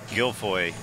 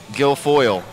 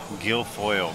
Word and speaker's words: Guilfoyle: nineball yes sir featuring David King and Charlie giloy Gil foil Gil foil sorry yeah he schooled me on how to pronounce his name but spelling is different in